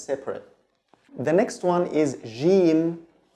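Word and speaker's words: جيم: This is the standard pronunciation, but in the Egyptian dialect it's pronounced gim, like the G in English, but the standard pronunciation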